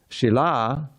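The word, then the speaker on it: śīla: of some of you the difference between and Sheila a Sheila is a stone Shila is behavior I'm sorry it's the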